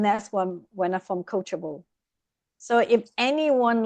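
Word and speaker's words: Coachjable: I want to emphasize the sound of ch coachable because we are all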